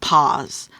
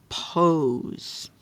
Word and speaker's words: pose: S and then this now if we leave it like this it's not pose it's pause p a so how can we change this a to a o we have to add the silent e at the end the silent E changes this a to an O pose okay go ahead and